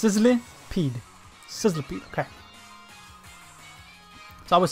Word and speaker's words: Sizzlipede: to see the name again so I can pronounce it. Sizzlipede. I kept on putting the I before the L. But it's Sizzlipede.